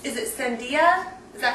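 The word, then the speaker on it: sandía: I the flavor of choice at our house is it's Is it Sandia? Is that how you say it? Yeah. Okay. Sandia with chili.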